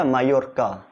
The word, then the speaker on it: Mallorca: Okay, Anselm Tormeda ni dia berasal daripada Spain, di satu tempat bernama Mallorca. Nama tempat dia, ejaan dia Majorca. Cara sebut dia Mallorca.